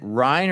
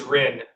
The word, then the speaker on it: Ren: Ry, is it is it Ryan or is it Ren? I want to make sure we're pronouncing your name correctly. It is Ren.